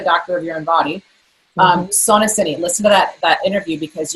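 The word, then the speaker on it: SonoCiné: That I would do differently is that another episode that you'll want to check out my podcast about Sonocine is how they pronounce it, is the new and latest and greatest in breast detection that is far better than mammograms, 0 radiation.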